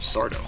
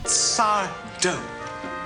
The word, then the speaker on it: Sardo: This episode is a special one, because it contains the first appearance of Sardo. Sardo. No Mr. Accent on the do.